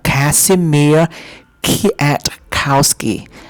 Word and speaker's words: Kazimierz Kwiatkowski: Kazimierz Kwiatkowski. Dr. Kazimierz Kwiatkowski. The Vietnamese people cannot pronounce his name correctly, so to make it easy, they pronounce his name.